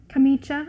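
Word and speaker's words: camicia: i've been working on italian camicha apparently is the correct way to say it italian renaissance shift it's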